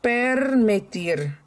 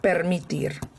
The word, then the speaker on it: permitir: So this is to permit In Spanish, it's permitir. Oh, sorry, I didn't pronounce that right. Permitir. Permitir.